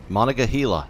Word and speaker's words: Monongahela: try to pronounce this i think it's monica gila monica that one sounds right monica gila that's what it is you got to say